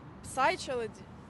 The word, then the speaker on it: psychology: PS там повинно бути psychology psychology ні psychology ого там п не читається psychкоolog і третя accountability